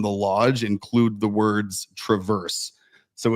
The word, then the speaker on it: Traverse: so I mean like it's TR it's Traverse but people probably call it Travers right correct so the car is Traverse but it's Traverse City so you got that